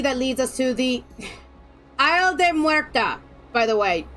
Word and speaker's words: Isla de Muerta: It was she that leads us to the Isle de Muerta, by the way. If I hear one person pronounce this wrong, I will go psycho. Isla de Muerta.